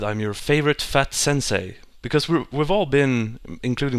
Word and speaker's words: sensei: E-I is not A, it's E. It's like a long, elongated E. So it's sensei and gakusei.